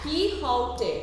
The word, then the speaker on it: Quixote: So, Quixote, it is pronounced as Quixote.